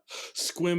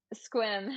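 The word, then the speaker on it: Sequim: And you can tell who's local by the way they pronounce Puyallup, right? And so you hear that all different ways. Squim is another one. Squim.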